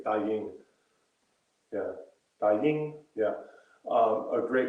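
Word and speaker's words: 大迎: I'm trying to remember how it's said, but Da Ying. I think it's Da Ying.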